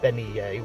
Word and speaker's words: bean nighe: In a similar fashion, the Scottish bean nighe (pronounced ben-nee'-yeh) was believed to be a symbol of approaching death, though in vastly different ways from the banshee.